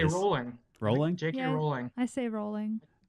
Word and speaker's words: Rowling: Now, my last question is, do you pronounce it Rowling or Rowling? Ooh, Because I've heard it both I ways. say rolling.